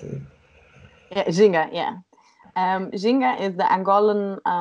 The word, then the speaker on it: Ginga: Or Ginga, however you pronounce it. Yeah, Ginga, yeah.